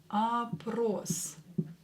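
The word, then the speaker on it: опрос: survey approach same here all will be pronounced as ah because it's not stressed here this or is stressed a Pros approached survey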